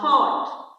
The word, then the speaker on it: thought: I have a thought. So thought we have GH but we are not getting sound of GH any sound. We are not getting F sound. This is silent here.